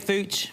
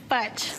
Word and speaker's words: Fuchs: Fuchs, is that how you say it, Fuchs? Futch.